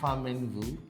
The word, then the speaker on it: Pho Minh Vu: So did I pronounce it correctly? Famengvu.